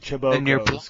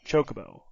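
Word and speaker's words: Chocobo: I've never heard anyone call it Chabokco cuz it's spelled C H O C O B O. Chocoo.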